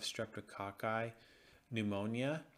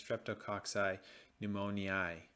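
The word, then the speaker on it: Streptococcus pneumoniae: capsule encapsulated form of streptococci pneumonia can pre can actually cause pneumonia sorry that is let's mispronounce that that's streptococci pneumoniae next we also have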